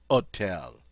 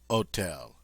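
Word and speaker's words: hôtel: an Airy sound but in French the H is a silent letter so while it's there we don't pronounce it uh as in the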